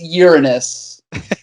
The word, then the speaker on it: Uranus: Just the correct pronunciation is Uranus.